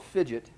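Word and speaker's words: Phidget: reference the board itself it's spelled uh or fidgets i'm sorry p-h-i-d-g-e-t okay it's called fidget and this company makes robotics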